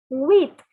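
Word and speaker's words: huit: a cactus sang sees the word for seven is set so take your colored pen and circle the p it is not to be pronounced again so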